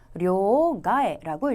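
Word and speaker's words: 両替: 근데 앞에 있는 양자는 음독의 료라고 읽었고요. 뒤에 있는 바꿀 채자는 카에루라고 하는 훈독에 땡땡을 붙여서 료가에라고 읽어주었습니다.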